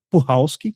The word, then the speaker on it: Puchalski: Puchalski, quem não sabe, não é Puchalski, como eu falei por um bom tempo, mas eu vi ela mesma dizendo que a pronúncia do sobrenome dela é Puchalski, Cristina Puchalski.